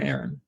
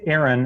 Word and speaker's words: Arron: So Arron, or Arron, do I say Arron or Arron? It would be properly pronounced Arron unless you're reading it on paper, and then it'd be Arron, like you're saying.